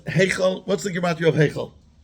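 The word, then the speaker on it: היכל: But Heichel, you spell it with a Tzera. Tzera is called the Tenua Gdoila. And a Tenua Gdoila has in it a hidden Yud. Especially in the Ashkenazi Avar, you say Heichel, like another, which upgrades the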